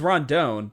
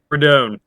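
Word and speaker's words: Rendon: Abbot versus R is I always thought it was Ron Don but it's saying it's rodon is that right redone redone Yeah Carl wow okay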